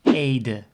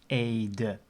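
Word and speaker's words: Ede: called Aid so that's the e-d-e and you will need the lesson about pronunciation of the e sound the first e is um a and the second is uh so you will pronounce it as Aid so we have a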